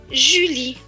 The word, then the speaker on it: Julie: maintenant la dernière phrase j majuscule et cela donne jus elle et y lit la le à la fin est écrit en peloton qui ne se prononcent pas ce nouveau va donc se lire jus lee julie loin p et hop